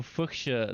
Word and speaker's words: fuchsia: So fuchsia, that's how you pronounce it.